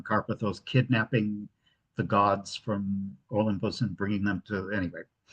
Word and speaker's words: Olympos: U, yes, the village is called Olympus. Accent on the first syllable.